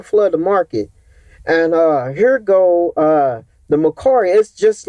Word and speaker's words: Mercari: allow me to sell t-shirts, which is I pronounce it Mercari.